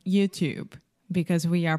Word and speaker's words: YouTube: is the B sound there is no e at the end in writing there is an e but in speaking the E is silent YouTube YouTube okay so you